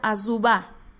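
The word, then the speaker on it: Azubah: gran ejemplo bueno negro se pronuncia a suba ok fue un gran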